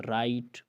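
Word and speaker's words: write: अगर किसी लफ्ज़ में डब्ल्यू आए और डब्ल्यू के बाद आर आए तो डब्ल्यू को हमेशा साइलेंट पढ़ा जाएगा, खामोश किया जाएगा, साइलेंट होगा डब्ल्यू। जैसे आप कहते हैं राइट, रैप, रॉन्ग, रेत, राइट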